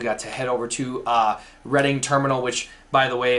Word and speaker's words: Reading: to head over to Reading Terminal which by the way if you're in that area it's definitely called reading but it's spelled reading we had some really